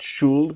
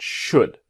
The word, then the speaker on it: should: Now remember, should the L is silent, not should, but should.